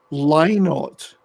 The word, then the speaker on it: Lynott: mighty legends that are Thin Lizzy and Phil Lynott, because that's how his name is supposed to be pronounced according to his daughters.